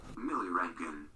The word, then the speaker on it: milliroentgen: Millirankin. What? Millirankin. Millirangoon. Millirankin. Millirankin. Millirankin. Millirankin. Millirankin. Millirankin. Oh, the T is silent.